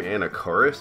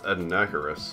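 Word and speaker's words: Anakaris: to be true suffering i always pronounce his name anacorus it's ednacarus anyway we're moving on to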